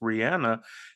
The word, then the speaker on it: Rihanna: If there's somebody, Rihanna, whose name is properly pronounced Rihanna, has just the Navy, I think it's called.